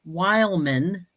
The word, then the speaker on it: Wileman: Richard Wileman, he does the same thing. He puts Wileman is how you say it, but it's Wehlman.